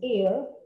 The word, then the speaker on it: heir: Suena la J, pero acá en la pronunciación es heir, honor y over. O agua, como algunos lo dicen, o sea, no hay sonido de la J.